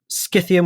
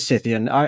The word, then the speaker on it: Scythian: Skyian with a hard K is more in keeping with the Greek wording and pronunciation. We'll stick with Cythian.